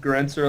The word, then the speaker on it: Granser: my name is granser like I said it rhymes with dispenser it's a silly thing